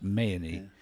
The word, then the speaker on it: Mahoney: Um and Lawrence Goldsmith and uh George Mayan, it's it's spelled Mahoney, but it's pronounced Mayan.